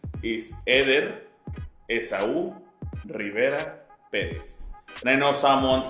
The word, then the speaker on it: Rivera: And can you pronounce it again? Rivera. Very Spanish. Rivera.